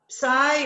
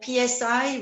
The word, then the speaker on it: PSI: to be tasting uh psy or psi whichever way you want to pronounce it just to to